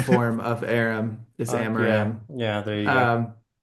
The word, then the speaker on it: Amaram: meaning oh my God, Aram. Aram? Oh my, Aram? oh man, Amaram. Aram. Yeah. One more syllable.